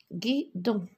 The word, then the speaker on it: guidon: Alors, guidon, je vois la lettre G suivie de la lettre U. Donc, guidon.